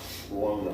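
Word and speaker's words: Buono: Wona.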